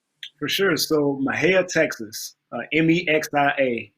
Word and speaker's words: Mexia: So Mexia, Texas, Mexia. You got to be country to say it right. They said Maher in the country.